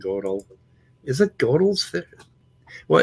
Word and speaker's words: Gödel: Godel. Godel. Oh, is that Google? Yeah, well, that was Google pronunciation. Where's Emma says? Gödel's incompleteness theorem. Okay, Isabel was saying Gödel.